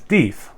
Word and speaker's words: Deth: Yes, it's pronounced Deth, not Death, like I always thought. So if you think it's Cafe Deth, or like, Death's Tar, you're not alone, but it actually is Deth, rhymes with teeth.